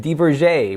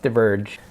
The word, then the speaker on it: Diverge: I'm gonna take a look at the specialized Deaver J with extra boying in the front just kidding it's pronounced diverge by that way I like in this like